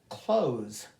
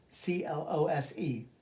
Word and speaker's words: close: something else again next close c l o s e to shut or close meaning nearby different pronunciation same spelling different meaning object a